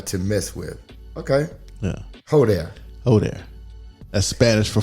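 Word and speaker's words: joder: So I'm looking at yo there, So it's pronounced like ho there.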